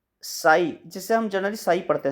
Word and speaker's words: psi: है, उसी तरह से साई, जिससे हम जनरली साई पढ़ते हैं, साई इसकी स्पेलिंग PSI होती है, साई वो डी ब्रोगली